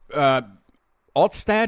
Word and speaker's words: Altstadt: the white Dennis is drinking an alt beer, which is a beer, but there's an area of Dusseldorf, Altstadt. Is that how you say it? Correct. Altstadt.